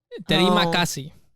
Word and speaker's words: Terima kasih: Terima kasih. Oh no, I don't want to pronounce Terima it.